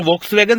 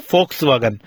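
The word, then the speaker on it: Volkswagen: तो वोक्सजिस्ट मतलब फोक, आपने वोक्सवैगन सुना है, उसको वोक्सवैगन का जो सही प्रोनाउंसिएशन है वो है फोक्सवैगन।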